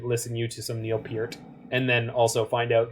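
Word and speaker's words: Neil Peart: definitely need to listen you to some neil piert and then also find out that his name is pronounced piert russia's hype rush is very good very very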